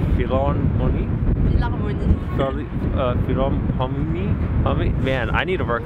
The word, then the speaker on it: Philharmonie: Philharmonie. Philharmonie.